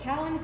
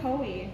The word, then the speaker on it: Kalanchoe: That is a Kalanchoe (Ka-lan-KO-ee). Or Ka-lan CHO, Ka-lan-CHO-ee, Ka-lan-KO, I've heard it pronounced so many different ways, there's really no wrong way to pronounce it, I just like Ka-lan-KO-ee.